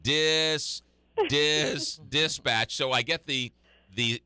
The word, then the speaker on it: Dispatch: on dispatch so it's dispatch dispatch right and the syllable is on the second or the accent is on the second syllable so I mean I